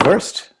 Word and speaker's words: Worst: I mean, it's a W, so it's pronounced with a V, so it's Verst.